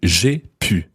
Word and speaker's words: j'ai pu: So, j'ai pu. J'ai pu. Now, this is one where you've really got to watch your pronunciation because j'ai pu and je pu mean two completely different things.